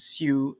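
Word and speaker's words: Sioux: prayers into english and su is spelled s i o u x so we started with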